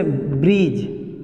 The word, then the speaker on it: bridge: बजट, बजट हुआ तो डी यहाँ पे भी साइलेंट। बजट मीन्स लेखा जोखा, लेखा जोखा। इसी तरह से ब्रिज जो आप लोग सुनते हैं, ओवर ब्रिज, BRIDGE, ब्रिज।